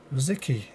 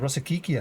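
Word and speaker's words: Rosický: Rosicky. I'm sure that's how you say his name. It's like, I've heard people say Rosicki, Rosicki. My Arsenal friend Shide used to call him Rosikiki, I think, at some point.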